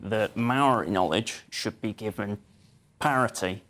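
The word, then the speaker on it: mauri: of um again pronounced Maori with a shorter vowel sounds it's spelled m-a-u-r-i it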